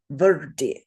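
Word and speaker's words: vṛddhi: And the way you pronounce this word is verdi, verdi.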